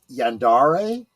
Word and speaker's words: yandere: And before someone says something, I I do believe that the term is pronounced Yandere. Yandere, my Okay.